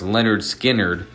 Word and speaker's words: Lynyrd Skynyrd: were ultimately shelved which made their follow-up effort pronounced Leonard Skynyrd their actual debut in 1973 the album featuring